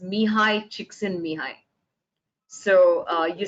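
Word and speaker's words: Mihály Csíkszentmihályi: looking for for flo his name's pronounced says mihai chiksin mihai so uh you said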